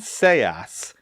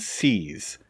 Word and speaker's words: seas: Note also that this is pronounced sea and seas, not see and sees.